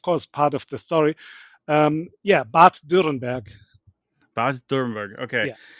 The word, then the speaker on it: Bad: help me pronounce this, Bad Dürrenberg is what it looks like. It's not bad, it's Bad. Bad. It's like a spa where there are fountains, you know, and so